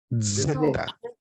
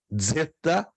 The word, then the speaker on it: zeta: Zeta presta atenção irmãos não é Zeta Está errado se alguém dizer Zeta é Zeta Zeta É como fosse um encontro de DZ dez Zeta lembram da